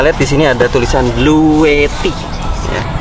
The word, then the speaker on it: Bluetti: di sini ada tulisan bluetty saya nggak tahu bacanya gimana cuman kalau saya lihat review-review orang luar memang dibacanya bluet ya dengan teh double ini mereknya sebelah sini